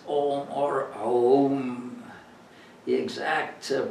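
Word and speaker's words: ॐ: in this way that om it's not actually om it's a and a and u together pronounce together are pronounce om or the exact pronunciation is probably a little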